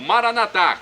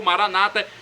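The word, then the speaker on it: Maranatha: E agora do aramaico dialeto de Jesus eu clamo, Maranatá, como dizemos nós católicos, ou Maranata, como dizem nossos irmãos separados, os evangélicos ou protestantes. Não importa a pronúncia, o significado é o mesmo.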